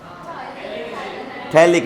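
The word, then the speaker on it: phthalic: याद है तो बताओ बोला था नोमेन में पी साइलेंट होता है थैलिक एसिड बताओ रिएक्शन में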